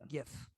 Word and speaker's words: GIF: It's pronounced GIF.